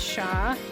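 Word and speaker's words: 西: one is Nan uh that one is sha and East is p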